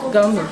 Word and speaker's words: Ngando: Parce que le ngando, comment vous le prononcez le En fait, on ne prononce pas les N, donc on dit seulement ngando. Gando.